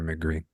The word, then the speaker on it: Megre: a Russian entrepreneur named Vladimir McRee or mcre if you want to use the proper pronunciation so they were published